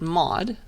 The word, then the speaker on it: mod: is the modulus operator i pronounce it mod and it takes the remainder so remainder after dividing by 10.